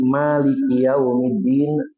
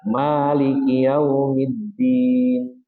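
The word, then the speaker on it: مَلِكِ يَوْمِ الدِّينِ: Dan pada ayat yang berbunyi Maliki yaumiddin ada kalanya beliau membacanya dengan ma yang dipendekkan. Biasanya kita baca Maliki yaumiddin, maka kadang-kadang Rasul membacanya maliki yaumiddin. Jadi kalau ada imam membacanya seperti itu, kita sudah tidak heran lagi.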